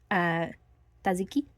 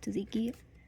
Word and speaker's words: tzatziki: if anyone's ever had tzatziki sauce, tzatziki. It's like that, like really cooling sauce, delicious. I love tzatziki. I'm Greek, so I'm saying it right.